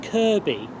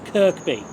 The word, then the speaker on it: Kirkby: quick question to ask if it's actually pronounced Kirby how could the station SES pronounce it as Kirkby that's better anyway I'm